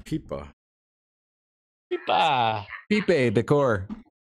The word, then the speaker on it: Pipa: Pipe. And she started laughing like crazy because I pronounced pipe Pipe. It's Pipa. Pipa. Pipe Decor. In Spanish, it's Pipa.